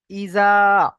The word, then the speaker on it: إذا: ইজা, হামজা জের ই, জাল আলিফ জাবার জা, ইজা।